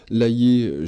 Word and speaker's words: Layet: Électroculture et énergie libre, Maxence Laillé et Roland Verlaine pour ce livre Les bienfaits de l'électricité et du magnétisme naturel pour des cultures écologiques. C'est aux éditions Le Courrier du Livre. Laillé, j'appelle le nom de famille, Layet.